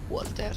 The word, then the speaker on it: Walter: Walter, sì, all'inglese si legge così.